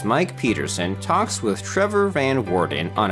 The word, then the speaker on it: van Woerden: pronounce your last name I pronounce it van Warden then Warden or Warden Warden Warden like as in like the warden of uh whatever yeah with a slight